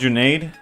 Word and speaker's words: Junaid: It's pronounced Junaid. I work with a guy with the same name. Bet. Oh, so the AID is literally aid as in like first aid.